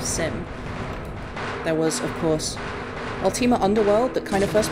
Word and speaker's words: Ultima: so yeah um ultimate ultimate ultima i don't understand what the problem is there how how do you pronounce it ultima who says ultimate that's not that's not